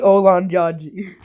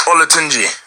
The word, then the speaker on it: Olatunji: It's DEJI Olanjaji. Your last name, DEJI? It's Olatunji.